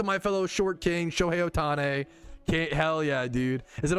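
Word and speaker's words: Ohtani: Shohei Otani.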